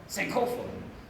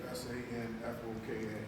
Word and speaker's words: Sankofa: So the word we practice in African culture is called Sankofa. Sankofa. How you spell that, Sean? S-A. Sanfoka.